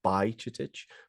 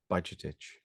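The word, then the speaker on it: Bajčetić: a new pronunciation uh I think the guys on ESPN had it wrong because they were like doing by chitich but I think it's budget itch nothing that's how you're supposed to say it now anyway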